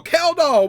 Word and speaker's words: Kjeldahl: Okay, so we're back with another method that you can't say nor pronounce nor spell. Woohoo. K J E L D H A L. K doll. What does that spell? Kall.